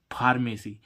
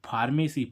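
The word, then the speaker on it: pharmacy: अब इसमें हम देखें फार्मेसी पी एच ए आर एम ए सी वाय फार्मेसी फार्मेसी means होती है दवा साझी अब देखो इसमें फा का उच्चारण किससे निकल रहा है पीएच से निकल रहा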